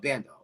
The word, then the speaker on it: Bando: Not Bondo, but Bando. Yep.